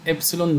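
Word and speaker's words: epsilon: دي بننطقها يا جماعه كلمه ابسلون نود، ابسلون والنود اللي هي زي زيرو كده، ماشي؟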